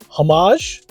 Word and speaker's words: homage: it and that's okay comment below if you pronounce it hamage or if you pronounce it homage I'm going to tell you guys how I pronounce it I think you can